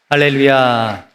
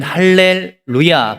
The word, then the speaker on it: 할렐루야: 할렐루야를 할 때 우리가 띄어쓰는 게 중요합니다. 히브리 학자들은 할렐루야 그러면 루야라는 신을 찬양하라 이렇게 오해를 할 수가 있대요. 그래서 할렐루야, 할렐루야 이렇게 하는 것이 올바른 그런 발음법이라고 합니다.